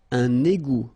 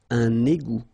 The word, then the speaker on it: égout: Un égout. Final T, not pronounced. Un égout.